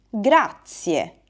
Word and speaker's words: grazie: In italiano diciamo grazie, grazie. Mi raccomando, nella pronuncia non dimenticate la E finale. Grazie.